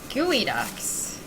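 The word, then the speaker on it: geoduck: Gooey Ducks. Uh, it's spelled Geodox. It's definitely gooey ducks. And I know that you know that it's gooey ducks.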